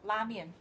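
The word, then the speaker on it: 拉面: Lamian. That's apparently the correct way to say it. But we have adapted to ramen, whereas even in the Midwest, some women that I've talked to call it ramen.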